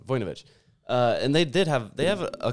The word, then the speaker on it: Vujnovic: Vujnovic. I pronounced the O too much on that one. Vujnovic.